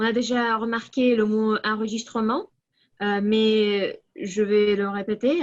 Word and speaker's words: enregistrement: On a déjà remarqué le mot enregistrement, mais je vais le répéter. Alors, ce n'est pas enregistration, comme on a dit, c'est l'enregistrement du masculin.